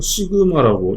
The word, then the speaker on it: 시그마: 그래서 압력이랑 같은 개념이고 여기서 응력은 요거를 시그마라고 읽어요.